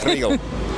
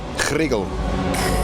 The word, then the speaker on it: Chrigel: And how would I pronounce your name? Chrigel. Huh? Sorry? Chrigel.